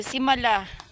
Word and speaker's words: Simala: Ang ganda simala simala so simala ayun yung tamang pronunciation It's simala y libot ko kayo